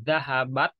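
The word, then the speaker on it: ذهبت: Nah, ingat untuk pengucapan t itu harus alhamas ya kalau mengucapkan t ini, karena t ini dia bukan al-jahr sifat hurufnya, tapi dia itu masuk juga kepada sifat al-hamas.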